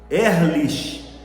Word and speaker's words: Ehrlich: no austríaco e hoje ehrlich pronúncia Talvez seja L mas se escreve assim hoje a e h r i c h r i